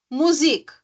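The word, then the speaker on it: Musik: D né Por exemplo music music o também é um pouquinho mais esticadinho né ã depois do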